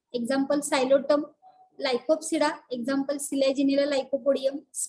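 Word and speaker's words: Psilotum: The example from this is नोन एज दी सायलोटम. उच्चार आपण स पासून करतोय, सायलोटम प्रोनाउन्सिएशन, पण स्पेलिंग जे आहे ती पी पासून आहे. पी सायलेंट असल्यामुळे पीचा उच्चार होत नाही.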